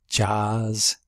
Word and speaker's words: jaws: jurs JS Joy JS jaws and Jaws which in traditional spelling would be j a WS but that s is pronounced as a z well thank you very